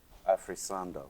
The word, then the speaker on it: Afrisando: Afrisando. Yeah. Okay. Great. Yeah. Yeah. I'm very limited with It's okay.